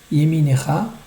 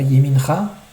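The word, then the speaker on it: יְמִינְךָ: Yeminecha, c'est pas Yemincha, c'est Yeminecha. Donc le nun, il portera un sheva na'. Donc c'est un sheva qui se prononce Yeminecha.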